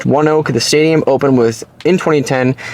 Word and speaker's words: ONEOK: Pronounced ONEOK, the stadium opened in 2010, now has a capacity of 7,800 people.